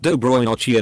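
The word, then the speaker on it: Доброй ночи: And I said Cisadilla L, which is pronounced Dobroy Nochi and means good night.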